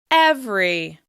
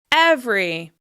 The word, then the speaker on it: every: This is another word that has evolved to only have 2 syllables.